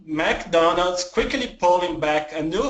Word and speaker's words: McDonald's: a wrist very good it's not Mac it's MC McDonald's MC M McDonald's good McDonald's McDonald's McDonald's